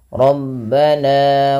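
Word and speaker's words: رَبَّنَا: Di antara salah satu kesalahannya adalah ia memanjangkan kadarnya lebih daripada dua harokat. Misalkan Rabbana waj'alna muslimaini, ini lebih dari dua harokat cukup. Bagaimana kadar dua harokat? Kadar dua harokat hanya menaikkan suaranya sedikit saja. Rabbana waj'alna, seperti itu.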